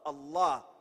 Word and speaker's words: الله: Allah pronounced A-double-L, exhale with love, Allah.